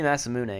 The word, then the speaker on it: Masamune: Is it Masamune, or it has to be Masamune because it's Japanese. They wouldn't not pronounce the E.